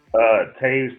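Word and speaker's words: Toews: Taves, but it's spelled toes.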